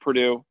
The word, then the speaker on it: Perdue: you could be on here um is it pronounced purdue like the college in india indiana yes spelled